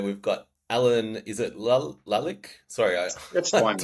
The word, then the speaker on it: Lalic: All right, welcome back to Startup Today's podcast episode 7, where we've got Alan, is it Lalic? Sorry, That's I fine, don't Matt. want to Yeah, mess that Lalic, that's pronunciation fine.